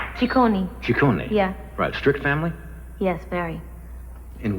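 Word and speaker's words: Ciccone: right yeah my father's Italian the name is pronounced tikoni strict family yes Barry in what way um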